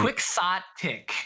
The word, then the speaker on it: Quixotic: I need you to teach me now because I butchered it. Quick sot tick.